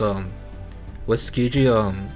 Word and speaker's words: Tsukiji: Like, honestly, the only real thing I remember from chapter 2 was Tsukiji, explaining Aoko's back history at the school to Sojiro.